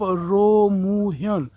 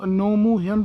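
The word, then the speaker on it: Roh Moo-hyun: अब हम पहुंच चुके हैं उस जगह पे जो बर्थ प्लेस ऑफ रो मू hyun, जिसको कोरियन अगर आप एक्सेंट में बोलेंगे प्रोनाउंसिएशन तो नोमू hyun बनती है प्रेसिडेंट की।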